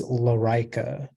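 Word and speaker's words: lorica: uh your word is larica all right the only pronunciation is la rica it's a noun and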